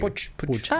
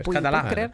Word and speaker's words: Puig: Queremos agradecerle también a Gabriel Gali y a Alejandro, no sé si se dice Puch o Puig. Puch. Mira, yo creía que era Puig.